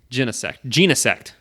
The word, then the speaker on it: Genesect: It's pronounced Genesect.